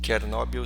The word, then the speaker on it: Chernobyl: que foi esse acidente em tchernobil ou chernobyl chernobyl seria a pronúncia em russo ele ocorreu em 1986